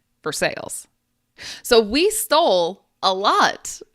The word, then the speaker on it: Versailles: Uh, in Kentucky, we have a town called Versailles, but it's spelled exactly like Versailles. in France, but we say in Kentucky for sales.